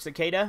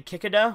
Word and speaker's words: cicada: I used to mispronounce the word cicada. I used to say kikada, which sounds really fucking retarded.